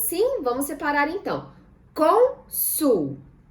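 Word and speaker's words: Cônsul: Consul. Conseguimos separar em sílabas? Sim, vamos separar então. Consul. Qual sílaba tônica? Com. Muito bem. O acento circunflexo vai lá na letrinha O.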